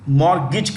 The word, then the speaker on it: mortgage: cards the last one mortgage the t is silent mortgage mortgage means you know